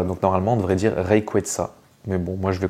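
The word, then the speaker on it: Rayquaza: des ailes voilà donc normalement on devrait dire reyeta mais bon moi je vais continu continuer de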